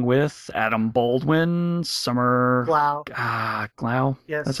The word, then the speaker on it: Glau: Glau.